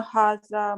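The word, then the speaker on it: هذا: Haza is pronounced haza, but it is written without the first alif.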